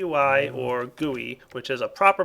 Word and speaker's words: GUI: interface or graphical user interface or G or goey which is a proper pronunciation those of you who haven't watched D videos know that some people uh don't like the word guey though it's a proper pronunciation yes GUI is